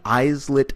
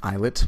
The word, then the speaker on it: islets: that there are many eyes lit cells it's actually pronounced islets but I'm mispronouncing it just to let you know how it's spelled eyes lit or islet cells that